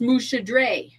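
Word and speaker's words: Muscedere: So it's spelled like Muscadet. Muscadet. Like the Musketeers almost, but Yeah, pronounced Mouchadre. Okay.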